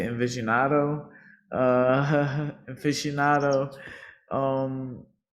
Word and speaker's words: aficionado: Aficionado.